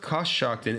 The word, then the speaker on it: Coshocton: So it's pronounced Coshocton, and they spelled it curse.